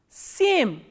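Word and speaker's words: семь: For 7 we have same, s, ye, m and soft sign.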